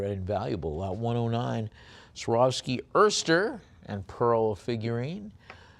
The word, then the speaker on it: Erster: Lot 109, Swarovski Erster and Pearl figurine. Open Erster or oyster, if you prefer the correct pronunciation.